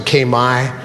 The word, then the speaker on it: Khmer: Historically, Cambodia was part of the, we call it Khmer, but they pronounce it Khmer, the Khmer Empire.